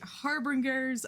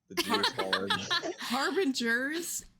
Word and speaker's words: harbinger: dark chocolate family aka the harbringers of the darkness harbingers harbingers I've been saying it wrong for my entire life we're a writing tutor